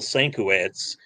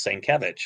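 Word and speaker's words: Sienkiewicz: a year of me calling him bill sankowitz i heard him i don't know maybe on a uh maybe on a convention panel or seven or or like from another pro that it's saint kevich and i'm like well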